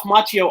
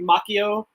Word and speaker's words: Macchio: That's also one where he tells him his name is mispronounced. It should be Macchio, not Macchio. Oh my gosh!